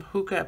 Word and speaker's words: hygge: higgy is hygge is the part that says pronounced hygge the danish term hookah basically means coziness and celebrates the thing that